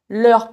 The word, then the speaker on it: leurs: Leur mère s'appelle Christine et au pluriel, on va utiliser l'heure avec un s qu'on ne prononce pas. Leurs parents s'appellent Jean et Christine.